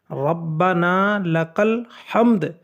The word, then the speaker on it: ربنا لک الحمد: ادا کرنا ہے اور یہاں جو لفظ ہے یہ ربنا لک الحمد کہنا ہے، ربنا لک الحمد، یہ پورا صحیح تلفظ ہے۔ اس کے بعد جب